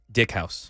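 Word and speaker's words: Dieckhaus: Kenny nine years old Evelyn decas I think I'm pronouncing her name prop properly is it Dickhouse Dickhouse thank you I apologize nine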